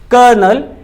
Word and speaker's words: Colonel: कर्नल एडे जी हां इसकी spelling कॉलोनल लगेगी आपको लेकिन क्योंकि हम इंडियन इंग्लिश यूज करते हैं तो इसमें हम इसको बुलाते हैं कर्नल एडे जो कि एक